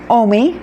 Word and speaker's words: Omi: The O isn't a problem in Spanish. The M-I, me, M-I is spelled me in Spanish, so O-M-I worked just great, which is so exciting